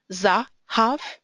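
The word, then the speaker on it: זָהָב: Zahav, that's an open syllable, and a closed one, but stressed. Therefore, zahav.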